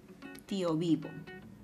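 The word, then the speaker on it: tiovivo: ocurre en la palabra compuesta tío vivo, porque en este caso el acento se mueve a la penúltima sílaba.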